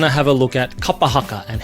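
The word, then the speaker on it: kapa haka: Kapahaka. So if you can focus more on the vowel sounds being consistent, I think you can really start to be able to pull that word together and say it properly.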